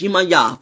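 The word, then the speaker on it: Yemaya: It's Yimaya for somebody who said that name wrong so 50,000 times. You've been not even close.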